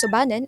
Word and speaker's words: Subanon: Subanon pronounced as Sububan is the dialect of the province used mostly by the members of the Subanon tribe.